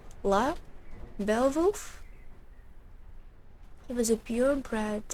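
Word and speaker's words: Lugh: This is silent. GH, right? La?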